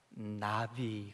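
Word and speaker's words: נביא: 그래서 1절 보니까 여호와께서 나단 선지자라고 하는 말이 히브리 말로 나비, 그럽니다. 나비. 발음이 우리 홀펄 날아다니는 나비.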